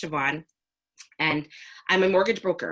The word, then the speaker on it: Siobhan: me my name is siobhan it's pronounced siobhan with a v even though there's no v in it it's an irish name i've been made fun